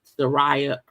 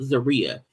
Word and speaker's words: Zeruiah: who did not want Sarah her name was actually pronounced Zaria I'm a maybe her